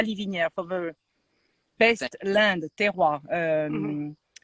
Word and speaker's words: terroir: Since a short time now, we can only say La Liviniere for the best land, terroir. How do you say terroir?